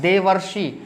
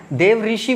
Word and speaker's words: देवर्षि: ने तो अर्बन गया देवर्षि ध्यान करना इसमें बहुत सारे बच्चे गलती इसका उच्चारण करते हैं देव ऋषि बोलते हैं ऐसा नहीं अपने को बोलना है यह देवर्षि होता है महज हमारी यहां आ